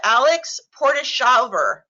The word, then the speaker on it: Alex Portishaver: Please correct my pronunciation. We have Alex Portishaver. Hi, that was correct.